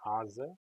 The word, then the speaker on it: Haase: My last name is actually pronounced Hase.